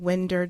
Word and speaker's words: Winder: 2 students and 2 adults were killed in a high school in Winder, Georgia. I think it's Winder, and that's how you pronounce it.